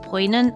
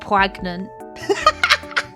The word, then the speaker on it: poignant: she would not understand I've never seen this word pronounced I would not have thought it was pronounced poignant I would have said pragnant all right the letters